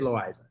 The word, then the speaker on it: Loayza: I'm like, it should be Loayza. It is Loayza. It's Loayza. Yeah. Yeah. So I think it's how you want to pronounce A-Y. You know, right. It depends on the region of where you grew up. And if you're going to say I or A or anything else, I think that's kind